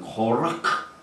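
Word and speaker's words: קורח: 그리스도의 모욕이 됩니다 아멘 고라 히브리 바라보는 코라크이 굉장히 발음하기 힘든 코라크 이렇게 합니다 이는 저명한 레위 자손의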